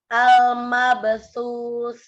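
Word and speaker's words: المبثوث: Kurang panjang su-nya diulang lagi. Oh ya. Al-mabsus. Ya, itu udah benar.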